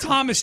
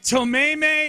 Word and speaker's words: Thomas: the mound was when she mispronounced Thomas. Yeah, because it's Thomas Jefferson. That was University. The worst. She's like Tomeme, and they're like, all right, this Tomeme.